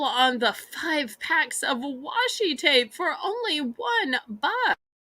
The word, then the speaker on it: washi: Lisa says it's called washi tape is that the correct pronunciation Washi okay like washing okay all right so